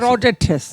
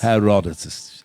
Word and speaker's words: Herodotus: 5th century BC Greek historian Herodotus. That's how you pronounce Herodotus. it. Herodotus.